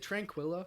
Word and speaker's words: Tranquilla: Via Tranquilla. Is it Tranquilla? Yeah. Is that how I'm? Yeah, you're saying it right.